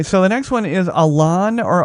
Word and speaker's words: Alon: Okay, so the next one is Alon or Alone. I knew a guy one time. It's Alon, and he pronounced it Alone, but it could be Alon.